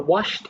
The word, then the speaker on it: washed: answer welcome back so the answer for washed is one syllable that's why just one